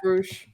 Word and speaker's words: Rush: Because he was Rush. What? How do you say? Is it Roosh? He was awesome at all. Yeah, Roosh.